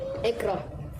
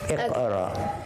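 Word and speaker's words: اقرأ: Ikra. Iqra. But say it properly. Iqra. Iqra.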